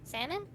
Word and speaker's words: salmon: that what kind of how do you say salmon oh salmon Ammon you're not of the salmon variety that